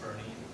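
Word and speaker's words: Boerne: of Bernie versus fores yes it is pronounced Bernie I have noly idea why but it is um so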